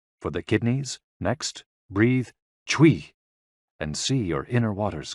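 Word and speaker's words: chuī: CHUI, pronounced like chui, with a forceful exhale, which is also associated with the kidneys.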